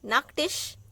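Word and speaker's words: Nachttisch: Now here double T is there, but the sound will only come of one T. Nacktisch.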